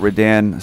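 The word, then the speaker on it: Radahn: Consort, and by Consort Redan, Star Scourge Redan. Because it's definitely pronounced Redan.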